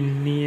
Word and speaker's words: knee: KNEE, नी यानी घुटना, N silent रहता है इसमें।